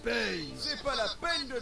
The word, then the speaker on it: Pain: Pain. Ça se prononce paye.